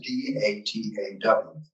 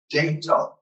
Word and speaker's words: Dataw: And that is D-A-T-A-W, the spelling that we have now. Now, I do hear folks who come from other parts of the United States who pronounce it Dataw.